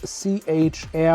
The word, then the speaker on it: Chair: the arvus a319 of CH air or if you just pronounce it as it's written chair this is a little